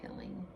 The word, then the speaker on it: pilling: I'm actually laughing inside because you said piling, and that's the right way to say it, and I've been saying pilling.